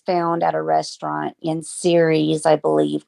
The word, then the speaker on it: Ceres: And I should say, when you say series, that's a town, and it's not spelled like World Series. It's Ceres series.